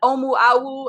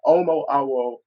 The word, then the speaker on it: Omo Awo: me one more time, an Omu Awu, a new priest in the African spiritual system of Ifa? Yes, this Omo Awo.